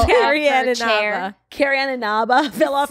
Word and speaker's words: Carrie Ann Inaba: How do you pronounce it? Carrie Ann Inaba.